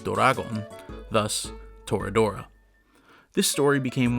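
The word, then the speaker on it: ドラゴン: torah is combined with the romaji for the english word dragon pronounced doragon thus toradora this story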